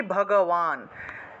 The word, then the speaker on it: ভগবান: এটা এটা তালবস্য, শ্রী ভগবান, এই যে দেখুন ভগবান, এই যে অন্তস্থ ব, এই যে এইভাবে লেখা হয়েছে, অন্তস্থ বটাকে এইভাবে লেখা হয়েছে, সুতরাং এটাকে ওয়া হিসেবে উচ্চারণ করতে হবে, ভগবান।